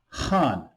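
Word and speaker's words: 汉: god, portrayed here as Han, pronounced with the fourth downward tone, comes from the name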